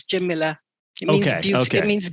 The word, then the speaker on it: Jamila: actually meant to ask i tend to emphasize the i in your name jamila do you do you pronounce it jimila is that right yeah jamilah some people say jamilia but it's jim miller it means beautiful it